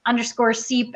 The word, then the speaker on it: Czep: I think I pronounced it wrong, so I'll just. It's okay, it happens all the time. It's Seep.